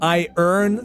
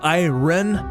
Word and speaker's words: Iron: Notice how I said I earn this time instead of Iron?